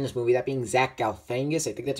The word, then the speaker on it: Galifianakis: I know one actor from The Campaign, one of my favorite movies, is actually in this movie, that being Zach Galifianakis, I think that's how you pronounce it.